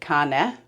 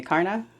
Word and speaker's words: Karna: So in Danish, you'd pronounce it Karna. Karna. But most people over here say Karna.